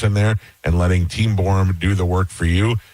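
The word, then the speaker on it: Borham: It's spelled b o r h a m. Google borum.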